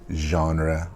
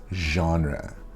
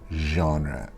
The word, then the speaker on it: genre: you what's your favorite genre or film it is genre genre not genre now you can say